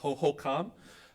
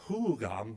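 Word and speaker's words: Huhugam: And these are their ancestors and uh archaeologists uh for many years have called them hoocom. Um they're called uh hugam by their descendants. So we're kind of changing that pronunciation a little bit just to honor that connection.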